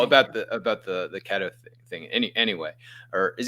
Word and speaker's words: keto: the ketto thing any anyway or is it kto or keto so I've done this too and I still don't know how to say this word and I'll probably forget uh so it's pronounced keto and for those of you who don't uh